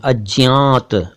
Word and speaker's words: अज्ञात: वैसे इसको कई लोग अज्ञात भी कहते हैं, अज्ञात, और अज्ञान को अज्ञान कहते हैं, तो वो बहुत कम चलता है उच्चारण। फिलहाल जो ज्यादा उच्चारण चलता है मैं आपको वो बता रहा हूं, अज्ञात।